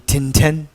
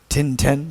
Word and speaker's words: tinten: In Tibetan is the tinten, finish. Tinten, just 2 syllables.